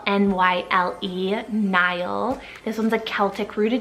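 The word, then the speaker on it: Nyle: Nile, spelled N-Y-L-E, Nile.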